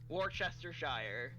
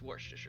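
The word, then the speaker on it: Worcestershire: to Sure sauce yeah fun fact it is not Worchester Shire it's warer sauce for anybody out there who also didn't know this I would still say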